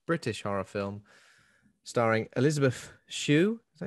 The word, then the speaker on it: Shue: So, Link is a 1986 British horror film starring Elisabeth Shue.